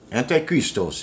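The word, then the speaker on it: ἀντίχριστος: excuse me anti Christos anti Christos is how it's pronounced in the Greek which means an opponent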